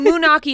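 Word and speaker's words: Moonachie: one of those right turns out munaki is in New Jersey and it's spelled m o o n a c h i that's Moi but the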